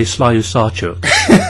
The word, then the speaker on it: Slyusarchuk: It's almost like Invenchuk, but Slyusarchuk. No, I would say Slyusarchuk.